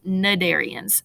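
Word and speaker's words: Cnidarians: jellies and anemones is nadarians so the c is silent there it's pronounced nadarians so you see anemones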